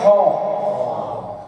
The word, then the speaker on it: خ: ہا پھر ہے خو جیسے کہ کوئی گلا صاف کرتا ہے خو.